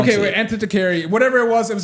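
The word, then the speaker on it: Antikythera: Anticaryi. Stress on kith and mech. Okay. So, ant. How can this be empire if you can't pronounce it? Okay. Wait. Anticaryi.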